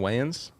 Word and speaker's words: Wayans: Marlon Wayans.